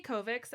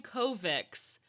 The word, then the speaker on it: Kovacs: It's supposed to be with a CH, but I listened on the audiobook, Kovacs.